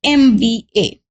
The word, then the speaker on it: MBA: Now, if you look at this word and if you try to make its pronunciation, it will be like M, okay, and this is A of Hindi Vyanjan, which is swar, sorry, A of Hindi swar or Hindi Varnmala swar. And if you want to spell it in English only, it will be like MBA. Okay, so here M, which is beginning with the vowel sound, therefore we'll write NM.